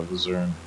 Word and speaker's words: Luzern: the town village of Luzerne, I believe it's called. Maybe you can correct me on the pronunciation. It's Luzern.